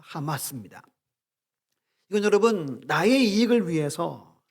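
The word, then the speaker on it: חמס: 이게 발음 기호가 하마스예요. 하마스 어떤 단체 기억나죠? 그거랑 다른 뜻인데 의미인데 참 공교롭게도 포악이라는 단어가 하마스입니다.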